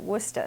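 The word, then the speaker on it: Worcester: born in wora massachusett which is spelled the same way w r c s t r um but we pronounce it wora so I'm not sure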